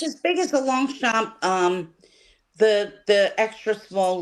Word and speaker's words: Longchamp: And thank you so much Roxy for saying Longchamp and knowing how to pronounce the name of the bag correctly. What did I say? Long Blanchet, what's the other one? Long champ, long camp.